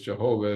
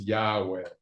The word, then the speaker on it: Yahweh: or as Jehovah, although the masters have told us Jehovah is an erroneous pronunciation of Yod He Vav He. Scholars believe it was probably originally pronounced as Yahweh.